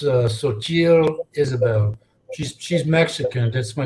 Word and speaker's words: Xochitl: name is pronounced Xochitl Isabel.